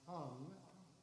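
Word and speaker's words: hang: of you don't know the hung spelled h-a-n-g pronounced hum was created uh by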